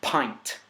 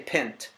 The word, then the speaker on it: pint: can't complain ladi Dadi the word is pint it's very common and don't feel bad if you do I'm not make in front of you trying to help you out here if you say pimped that's actually perfectly normal way to read that word because you aren't phonics